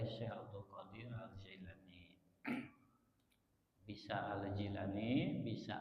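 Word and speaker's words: al-Jilani: Abdul Qadir aljailani bisa aljilani bisa alqilani di beberapa tulisan redaksi menggunakan kalimah alqilani Jadi kalau Abdul Qadir alqilani sama dengan aljilani jadi dalam lidah beberapa daerah Arab Jilan itu diucapkan kilan J kalau kita menemukan tulisan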